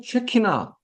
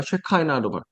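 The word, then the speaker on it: Shekinah: 쾌하신 하나님 이렇게 쉐키나, 쉐키나라고 발음하든가 쉐카이나로 쉐카이나는 약간 영어식으로 원래는 쉐키나, 하나님 이런 얘기를 들어가지고 샤키나?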